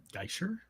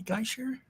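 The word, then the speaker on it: Gaißer: mean I did yeah so it's it's g-a-i the funky little B thing ER so geisher I just I think I think in German if I understand correctly if you have two vowels together you pronounce the second one so it would be guy as opposed to gay uh for the first syllable and it's that B I think is an sh sound so I think it's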